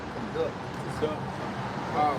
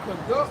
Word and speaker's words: conduct: It said to lead, guide, direct, to lead through, conduct to something, to move, Not conduct. Conduct. conduct to. It's spelled the same, but it's pronounced different pertaining to the meaning and the context.